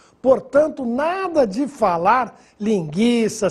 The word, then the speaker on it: linguiça: Embora o trema não seja mais usado, a pronúncia das palavras que recebiam trema continua a mesma. Ou seja, devemos continuar pronunciando a letra U. Portanto, nada de falar linguiça, sequestro, se inquenta, o